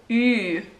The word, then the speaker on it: ü: Say the sound E and purse your lips almost completely shut. E. Like, in what shape though? Ü.